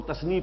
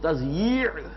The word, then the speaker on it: تضییع: میں لکھا ہوتا ہے تو لوگ تثنیہ پڑھتے ہیں اسے، تثنیہ اوقات. یہ جو کہتے ہیں وقت کو ضائع کرنا تو وہ تثنیہ پڑھ دیتے ہیں اس کو، وہ تضییع ہے.